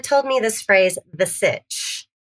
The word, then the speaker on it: Sitch: So, if you are on the interweb as my pop calls it, uh if you go to Sitch, sit titch rhymes with Burich.